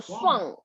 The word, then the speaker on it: swung: The past tense is swung. Between a and u, swung.